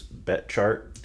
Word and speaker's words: Betchart: Oliver Betchart, I believe is how you pronounce it. It's not spelled that way, but it's Betchart.